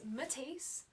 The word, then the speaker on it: Matisse: Okay, so my name is Matisse, like the painter.